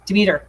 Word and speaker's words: Demeter: It's Dimitri, not Dimitri. Oh, I'm going to say it wrong. Demeter. There we go.